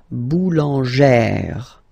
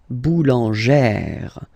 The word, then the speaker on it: boulangère: Remember, when you've got this E plus this accent grave, you pronounce it like E, really open E sound. Okay, so boulanger, boulanger, and then feminine form, boulangère, boulangère. Same thing, don't insist too much on the final E, boulangère.